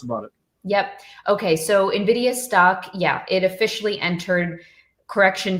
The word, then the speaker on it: NVIDIA: There's no I between it there. It's just N and NVIDIA.